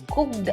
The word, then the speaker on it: Cookd: A lot of people do say cooked because that's how it's written. Yeah. But it's actually just cooked. So imagine the word cooked, COOKD, with a spelling mistake. So just COOKD. So that's how the pronunciation is, just cooked.